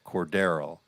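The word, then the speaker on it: Cordarrelle: expand on Cornell Patterson who is pronounced court at all and having an excellent year so far so go ahead Cordero cordarrell uh how about Naji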